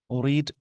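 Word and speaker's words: read: होता है, अपसेट है, रीड इसका प्रोनाउंसिएशन सेकंड फॉर्म में रेड और रेड हो जाता है थर्ड फॉर्म में।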